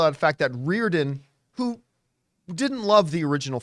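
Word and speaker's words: Riordan: Like a lot of people made a big deal out of I never know how to pronounce the author's name. Roydan, whatever. Oh, Reardon.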